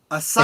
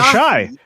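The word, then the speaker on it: Asahi: Uh Mark Dailyaly is cracking open a Japanese beer called Asai. Ashai. Ashai. Oh, Ashai. Is that how it's pronounced? Ashai.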